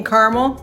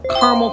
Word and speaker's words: Carmel: cons of living in caramel and yes it's pronounced caramel like caramel corn not caramel in this video I'm